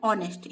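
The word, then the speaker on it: honest: अब यहाँ पे देखिए एच से ये स्टार्ट हो रहा है लेकिन यहाँ पे जो साउंड आ रहा है वो वोवेल का आ रहा है ऑनेस्ट, यानी एच साइलेंट हो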